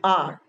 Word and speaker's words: hour: Before a silent H. Let's take for the example, I'll meet you in an hour. Hourr, but we pronounce it as our.